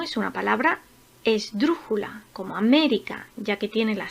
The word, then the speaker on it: América: Por ejemplo, América. América tiene la sílaba tónica en la tercera sílaba comenzando por el final. Me.